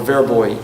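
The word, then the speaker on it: Vrbové: in this czechoslovakian town a slovakian town called veribo or veraboy in the yiddish pronunciation i don't know too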